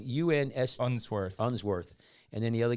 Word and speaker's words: Unsworth: a British cave diver Vernon how do you pronounce that last name UNS unsworth unsworth and then the other guy imagine like